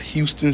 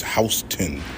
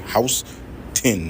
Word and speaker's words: Houston: This right here is Houston Street, not Houston Street. This shit is Houston Street, nigga. House 10, nigga. Houston Street.